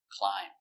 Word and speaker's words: climb: Remember, silent B. Climb.